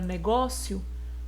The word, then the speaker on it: negócio: Percebam que nessa palavra negócio, ela tem 3 sílabas. Última, penúltima, antepenúltima. A sílaba tônica é a penúltima.